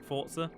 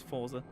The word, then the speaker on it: Forza: a game and or as some people pronounce it fort sir supposedly that's the correct way its Forza it's like naked Nike